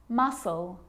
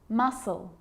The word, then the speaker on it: muscle: subtle debt and doubt now the letter c can cause a few problems because it's often silent after the letter s like in these very common examples they're quite tricky muscle muscle scissors fascinate seam scenario